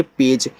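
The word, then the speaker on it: page: से ये सीख लो ए के बाद एक लेटर छोड़ के इ आए तो ए का जो उच्चारण होगा वह ए की मात्रा के रूप में होता है और बाकी लास्ट वाले इ का तो होता नहीं आपको पता है तो यहां पे ए का उच्चारण फिर जी के बाद इ है तो जे को हम यानी जी को हम ज पढ़ेंगे पेज।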